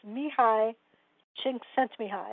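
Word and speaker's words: Csikszentmihalyi: optimal experience by and i learned how to pronounce this mihi sent me high and it's d s i k s-z-e-n-t m-i-h-a-l-y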